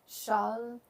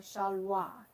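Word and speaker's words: שלוה: palaces, within your palaces, that word prosperity is shalva or shalwa if you pronounce it the older way.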